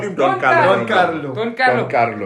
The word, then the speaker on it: Don Carlo: Don Carlo. But you have to roll your R.